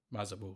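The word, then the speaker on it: Mazarbul: And then it's only got one other section, which is the Book of how do you pronounce it? The Book of Mazabul. Mazabul, yeah.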